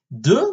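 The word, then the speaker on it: deux: it gets more complicated do which stands for - is spelled d e you ax so it's quite hard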